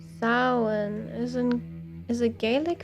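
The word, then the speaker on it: Samhain: Samine approximately pronounced sin is an is a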